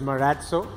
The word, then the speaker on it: Marazzo: Yeah, so the correct pronunciation is Marazzo. And as you know, the origination of it comes from Basque, which is a sub-language of Spanish.